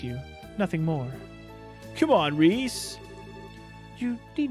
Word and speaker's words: Ries: serving you oh fy her name is spelled r-i-e-s that's why i'm saying rhys and with that